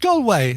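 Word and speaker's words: Galway: look at that and correct pronunciation of gway done even though this is Herold scotland. comom so it's a Scottish uh thing but you don't want the 30 second recording from Claire where she's like it's pronounced gway goway goway yeah so it's it's pronounced goway okay so now you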